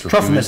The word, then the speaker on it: Trophimus: It's Trophimus. Or Trophimus. Trophimus is probably how it's pronounced.